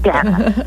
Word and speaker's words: Danna: Yeah, it's like Anna with a D. Danna. Anna with a D. That helps. Okay, Danna.